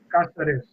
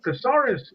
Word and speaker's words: Casares: When I called the Chicago Bears to get some information on him, I pronounced it phonetically like you do in Spanish. Rick Casares. And the gentleman told me, he says, hold on.